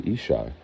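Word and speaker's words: ישי: attached to my name, people say Jesse. Okay, so if you get into Hebrew, they say Ishai.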